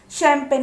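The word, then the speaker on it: champagne: ए जी एन ई शैम्पेन. यहाँ पर भी देखिए सी एच है लेकिन इसका उच्चारण हो रहा है श.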